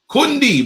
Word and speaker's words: Koundé: Jules Koundé, Kundi, bruv. That's how you say his name. I checked Google. And listen, I play it again. Jules Koundé, One more. Jules Koundé. That's how you say his name. So I'm calling him, bruv. Don't piss me off. And that's the French way.